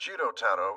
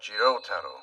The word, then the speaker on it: Jiro: thing before we begin my name is pronounced Jiro and not Jiro got it Jiro and not Jiro you have to make sure not to elongate that second vowel I'll be sure to